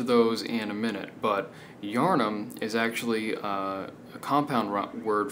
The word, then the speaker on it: Yharnam: to talk about bloodborne and the meaning of yharnam or uranum as it may be pronounced now the definitions of the lands the